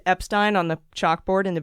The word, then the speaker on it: Epstein: I've learned from a listener that it's like Frankenstein, so it's Epstein, not Frankenstein.